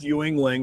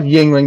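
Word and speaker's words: Yuengling: this is the best ewingling right there yeah oh yeah it's just called Yingling there's not Ewing it's just it's definitely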